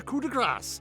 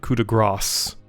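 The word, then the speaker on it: coup de grâce: that's lacking is the coup de grass I will muster a new host and March on corrid and I have always heard that pronounced coup de gras not Cuda grass and where will you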